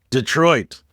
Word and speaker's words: Detroit: The D isn't even really a D sound. It's more of a duh, like da or did. It's Detroit. One fluid motion, no theatrical pauses, no emphasis on individual letters, just a casual, effortless